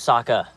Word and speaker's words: Sokka: My name's Sokka. Rhymes with Aka.